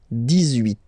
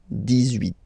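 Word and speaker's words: dix-huit: So you will make this little link between the two, the liaison. 18. 18.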